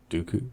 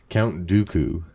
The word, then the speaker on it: Dooku: of course I actually like do dokus doku Dooku do little different Dooku Dooku I'm like why am I forgetting who how to say his name Count Dooku he's my fav cuz I like the curve